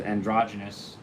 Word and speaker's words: androgynos: The androgynous has androgynos, as it's written, but we pronounce it as androgynous in sort of the Anglicized version of it.